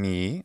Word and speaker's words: mihi: So saying mi instead of mihi is fantastic.